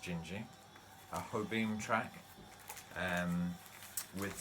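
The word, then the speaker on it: Dindi: here and we listened to the track called gingy which is spelled in d but pronounced gingy haha beam track and with some very nice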